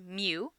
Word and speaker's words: mu: population arithmetic mean which we use this character pronounced mu is computed using all the individuals in a